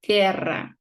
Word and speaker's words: guerra: We don't pronounce the U.